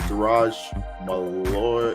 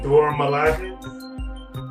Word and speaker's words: Dora Milaje: Ross and members of the Duraj Malloy. I don't know how to pronounce that word, to be honest with you. Dora Milaje?